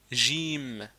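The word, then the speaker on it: جيم: Donc gym, gym, c'est comme si vous avez j'im mais vous dites gym. J'aime par exemple, vous dites j'aime. Mais le gym, on ne dit pas j'aime mais on dit gym.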